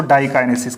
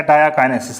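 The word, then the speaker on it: diakinesis: और जो fifth process है उसको डाइकाइनेसिस कहते हैं, या डायाकाइनेसिस, ऐसे आप प्रोनाउंस कर सकते हो।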